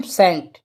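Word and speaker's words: scent: है याद रखना है जहां भी एस के बाद में अगर सी आए तो सी क्या होगा साइलेंट होगा जैसे एग्जांपल के तोर पे ले लेते हैं सेट ठीक है सेंट तो सेंट की मीनिंग देखें एस सी आई एन टी तो मैंने क्या बताया एस के बाद में सी आएगा तो सी क्या होगा साइलेंट तो इसके लिए क्या पढ़ेंगे हम सेंड ठीक है साइलेंट हो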